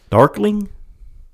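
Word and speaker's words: Darklyn: Dark Darkling. Yeah, it's I'm trying to think how to pronounce it.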